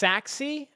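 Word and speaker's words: Sachse: Pronounced Saxi. Okay, good to know.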